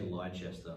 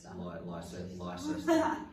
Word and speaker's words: Leicester: Say Leicester because that's how it's spelled. Leicester.